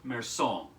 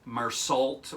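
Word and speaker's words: Meursault: the main character's name is uh merson now it's spelled an american tongue wants to say marsalt or mersalt um but uh the the french is just so much more gentle than than english you know and so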